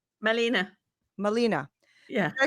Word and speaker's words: Malene: Marlene how do you say your first name Melina Molina yeah can I spell it right m-a-l-e-n-e yes okay so Molina you